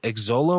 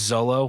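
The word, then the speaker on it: Xolo: give to is his is it exola or Olo Zolo it's Zolo wow um I suck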